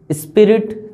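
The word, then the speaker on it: esprit de corps: ठीक है, अगर एक्चुअली इसकी प्रोनाउंसिएशन बोलूं तो इसको बोला जाता है स्प्री, नॉट स्पिरिट। इसको पढ़ा जाता है स्प्री, इसको पढ़ा जाता है दे कॉर, स्पिरिट द कॉर पढ़ा जाता है इसको, स्पिरिट दे कॉर।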